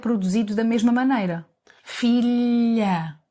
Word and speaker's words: filha: Think of the word million, in English. Million, million. Fillia! No? Sort of. The position of your tongue, the tip of your tongue touches the roof of your mouth and the sides of your tongue are slightly open. OK. Son, daughter. Much better. Son, daughter, corn, eye. Corn, eye. So, it's like saying million and yes at the same time.